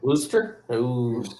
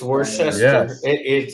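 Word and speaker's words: Worcester: would imagine it starts with a h woster woster it's just like andester sh sauce wor but it's pronounced yeah I know it's spelled like you would say like Worchester it's Worchester but it's called because she's like so I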